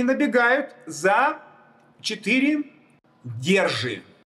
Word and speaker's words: Держи: и набегают за четыре держи. А вот год верхнего параллельного мира я назвал держи. Держит. Он все держит. Держи. Ударение на Е.